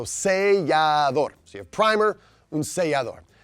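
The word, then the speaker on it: sellador: But you can see seal right in there. See L, right? And then adore at the end. So seador.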